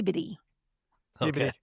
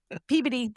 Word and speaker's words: Peabody: It's pronounced pee. Peody. Peodyy.